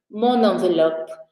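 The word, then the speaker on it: mon enveloppe: invés de falar o francês inventou que tem que ser junta na pronúncia Mona monavelope agora quando você fala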